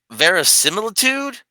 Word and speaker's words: verisimilitude: Otherwise, you may come off as desperate, and the lack of ver- verisimil- verisimilitude. Is that how you pronounce that?